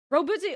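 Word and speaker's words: Roboute: Rabute Gilliman? Rabute. Gilliman. Yeah. You're a professional streamer. Yeah, I totally have not been streaming for like 8 years. Don't look at me. Texman? Robute. Oh, it's spelled incorrectly?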